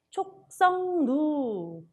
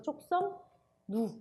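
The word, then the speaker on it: 촉석루: 촉성누, 요게 촉성누라서 된소리 되기는 발음 안 한 게 표기 안 한 게 맞지만 뭘 해줘야 돼요? 비음하는 반영을 해줘야 되겠죠. 그래서 촉성누 이렇게 되는 거죠.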